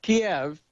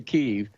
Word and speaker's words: Kyiv: So there's Kiev, right? The Ukrainians like to say Kyiv.